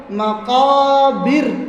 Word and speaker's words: المقابر: আটটা হলো মাকাবির, টান নাই, বীর টান এরকম হবে না, মাকাবির।